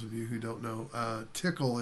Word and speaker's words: Tcl: the tickle expert at tcl for those of you who don't know tickle is the way att pronounced it so you may hear it as tcl it's a programming scripting